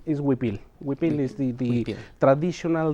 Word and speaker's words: huipil: Okay, I know a lot of people, they find it hard to pronounce and they call it whipple or huipo, different names. Is huipil.